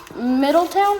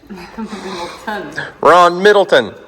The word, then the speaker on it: Middleton: Ron Middletown? Is that how you say it? Ron Middleton. Ron Middleton.